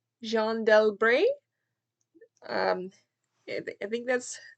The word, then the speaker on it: Jeanne d'Albret: It's a biography of, I think the French pronunciation is Jeanne d'Albret.